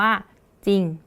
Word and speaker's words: จริง: อย่างนะ คะ คำ ว่า จริง เวลา เรา อ่าน จริง เรา จะ ไม่ อ่าน เป็น จริง ใช่ ไหม คะ เรา จะ อ่าน เพียง แค่ จริง แล้ว ตัว ที่ เรา ออก ก็ จะ เป็น จอ จาน เห็น ไหม คะ อัน